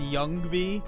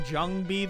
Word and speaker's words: Jungby: And also the J in it's a German J for pronunciation. Like, you tell me it's Yugdraw and not Jugdraw, and you've let me say, oh no, and Youngby, and I've been saying Jungby the whole time.